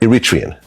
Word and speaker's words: Eritrean: So you're Iritrian. Mhm. Wow. You pronounced it right.